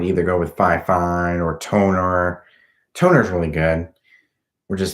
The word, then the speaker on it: Tonor: But if you want a budget brand, I would either go with Fifine or Toner. Toner's really good, which is spelled TONOR, and they're really good microphones.